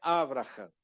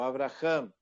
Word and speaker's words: Abraham: Tem gente que fala avraha, não é avra, tá? Por quê? Porque aqui eu tenho uma sílaba maior, tá? A sílaba maior é o Abraham, ela vem para cá, tá? Abraham. Quando você iniciar a pronúncia aqui, ó, do Abraham, aqui, ó, Avr Avra. Abraham, aqui é breve, então